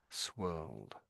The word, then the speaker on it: swirled: So it's like the planet Earth where you say world, but there's an S in front of it. Swirled. Swirled almost sort of thing.